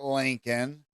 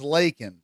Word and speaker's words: Laken: prepared for leak and he says her name wrong her name is not Lincoln her name is leak bro he doesn't give a